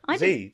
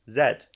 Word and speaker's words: Z: Is that Is that an American pronunciation? Yeah. Z. That's why they say like zebra. Zebra. Yeah. Zebra. Zed. I'm sorry.